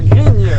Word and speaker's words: grigne: salut ça va c'est c'est la gringe hein la grigne ah la grigne la grigne comme grignoter grigne ben voilà écoute j'ai